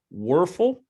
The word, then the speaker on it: Wuerffel: In his senior year, Joel received the prestigious, and you may have to help me with this, Wuerffel Trophy. Did I say it right? Danny Wuerffel, yeah.